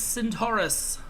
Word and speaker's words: Centaurus: uh for dueling we'll see his ultimate is Centaurus that's how you pronounce it uh he transforms into a constellation